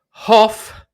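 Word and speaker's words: Hough: rock forward bayley williams defense mid and brady hoff that's the correct way to pronounce his name defense mid which i would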